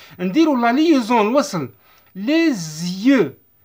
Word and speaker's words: les yeux: Les S entre deux voyelles. Entre deux voyelles. Entre le E et Y. نديروا la liaison الوصل. Les yeux. Les yeux.